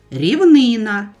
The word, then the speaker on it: рівнина: Ще також затям, дитино, буде правильно рівнина і боніш не ходи, щоб уникнути біди.